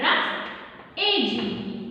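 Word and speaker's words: roughage: Here we are reading this as rough phase, no? So pronounce like this, R-U-F, rough, A-G-E, age, rough age.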